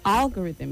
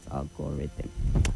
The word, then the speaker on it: algorithm: Then algorithm is the word and not algorithm.